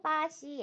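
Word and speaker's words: 巴西: 나라 같아요 그렇죠 브라질이 조 요거를 한번 중국어로 발음을 해 볼까요 당시 빠 ce 아씨 라고 합니다 풀어지는 중국어로 빠 시 에요 그러면 n 나네 브라질 사람이에요 어떻게 해야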